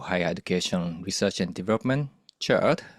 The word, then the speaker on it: CHERD: I'm an associate professor at the Center for Higher Education Research and Development, CHERD, which rhymes with nerd.